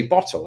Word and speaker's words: bottle: I wouldn't always say bottle. If I'm rushing my sentence, it would be bottle. There'd be a glottal stop right in the middle of it to where the T's and the D's are gone.